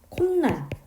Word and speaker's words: 콧날: 콧날도 마찬가지예요. 코라는 형태소와 날이라는 형태소가 합쳐졌는데 니은 첨가 현상의 환경은 아니지만 우리 이거 발음할 때 코날이라고 하지 않고 콧날 이렇게 니은이 갑자기 추가가 된 거예요.